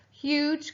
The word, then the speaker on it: huge: one we've got hug but the magic e turned the uh into the u sound so now it's h and the g e is a special friend making the j sound huge can tell you the